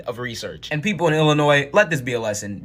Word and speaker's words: Illinois: it's Illinois if you can't realize that the S is silent you shouldn't be talking I literally Googled Illinois